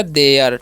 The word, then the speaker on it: there: अब देखिए क्या लिखा है यहाँ पर THERE, तो इसे थेयर नहीं पढ़ना है, ठीक है, TH का उच्चारण यहाँ पर द करना है, और ERE है तो ए हो जाएगा, तो हो गया देयर, ठीक है, यानी कि गो देयर।